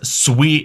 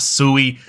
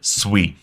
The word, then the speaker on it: Sui: And first off, how's it pronounced? It is Sui. It is not Sui.